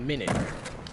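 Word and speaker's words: Minit: on the radar is a minute it's called minute it's like in but it's spelled different it's not spelled like how minutes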